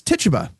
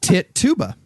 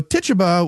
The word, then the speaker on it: Tituba: All right, and the last of the original suspects was Tituba, whose name I learned in 9th grade is not pronounced Tit-tuba.